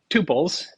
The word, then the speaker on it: tuple: a an issue but I go with tuples because I grew up in the age of Tupperware and that's what it